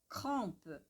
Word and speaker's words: crampe: Alors, outra palavra, outra palavra, crampe, crampe, crampe. Aqui a gente tem um M, né? Então, crampe, crampe, crampe, crampe, crampe, crampe, crampe. Lembrando, E bem sutil, crampe, crampe.